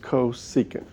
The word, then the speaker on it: cosecant: to the same colors um cosecant CSC it's pronounced cosecant and again they're really new to you but